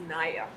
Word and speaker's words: Nia: Oh, it's pronounced Naya. Naya.